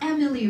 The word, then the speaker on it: Emilie: It's pronounced Emilie, right?